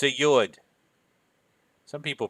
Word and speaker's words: Yud: It's a Yud. Some people pronounce it as Yod.